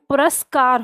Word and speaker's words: पुरस्कार: तो पुरु र पे उ की मात्रा नहीं होती है। आपको पता है संधि बताती है। पुरस्कार होता है।